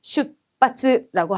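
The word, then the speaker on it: 出発: 원래 발음이 음독으로 슈츠랑 하츠인데 역시 츠랑 하는 그냥 연결될 수가 없는 대표적인 아이들이죠. 그래서 으 발음 내려가서 슈빠츠라고 하면 되겠고, 자, 비슷한 발음법을 가진 단어들 중에서는 자, 발표.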